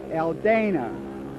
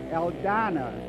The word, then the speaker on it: Aldana: would call him Dave Aldana. But the proper Spanish pronunciation, because there is no long A in Spanish, so the proper pronunciation would be Dave Aldana. So right now, Dave Aldana is running in second place.